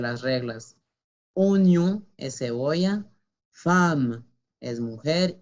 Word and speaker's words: femme: baskets, une veste pour femme, la pronunciación es femme. ¿Por qué pronunciamos A? No lo sé. Así es. Esa palabra se escapa de las reglas. Femme. Femme. Con A.